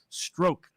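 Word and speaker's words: Strzok: say that's p apparently i'm told that the pronunciation is stroke uh i it spelled like troubles but i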